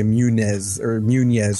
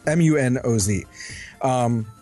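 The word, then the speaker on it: Muñoz: Well, I want to say it looks like a Spanish name of some sort, so I want to say Munez or something like that. But it's Munoz.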